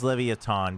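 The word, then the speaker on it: Leviatán: The team name is Levaton because that is how it is written and pronounced in uh in Latin America.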